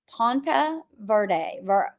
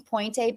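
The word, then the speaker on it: Ponte Vedra: I'm in, you guys, okay, I've been saying it wrong. It's Ponte Verde Beach.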